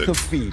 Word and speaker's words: McAfee: John McAfee is the creator McAfee. That's how you pronounce McAfee, it.